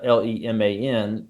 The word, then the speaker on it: Leman: My name is Leman, is how you say Leman, and Lamont, Lamont, is the clan in my novel.